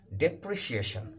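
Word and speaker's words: depreciation: হচ্ছে একজন জাতীয় খেলোয়াড় ডেপ্রিসিয়েশন এটার উচ্চারণটা একটু ভালো করে দেখবে ডেপ ডেপ্রি ডেপ্রি C Eshan ডেপ্রিসিয়েশন ডেপ্রিসিয়েশন মানে ক্ষয় ডেপ্রিসিয়েশন অফ রেস্পেক্ট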